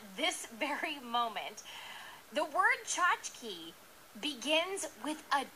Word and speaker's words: tchotchke: There's another C-H, a ch, and then a K-E that says key. Which it never would. K-E in any other word. Bike, it's not like bike key. But in tchotchke, the K-E says key.